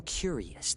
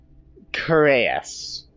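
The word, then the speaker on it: cuirass: Wait, what's a curious? It's the chest part of the armor. Oh, it's pronounced curus. Oh, no way. Yeah, I've only ever read that word.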